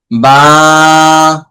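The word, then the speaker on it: باء: অনেক হরফ আছে পাশাপাশি উচ্চারণ, হালকা অল্প কিছু পার্থক্য, এগুলো পার্থক্য বোঝার জন্য সম্পূর্ণ মনোযোগী হতে হবে।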